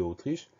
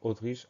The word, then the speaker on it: Autriche: Le mot Autriche commence par un A majuscule parce que c'est un nom propre. Donc le son O du début de Autriche s'écrit A majuscule U. Ensuite, tri, T-R-I, che, C-H-E.